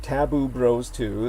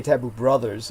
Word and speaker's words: Taboo Bros 2: So everyone do go to Taboo Bros 2. That's spelled TABOO space BROS space Roman numeral 2. I used to say Taboo Brothers, which Lena Shea informed myself led to basically a softcore incestuous porn channel.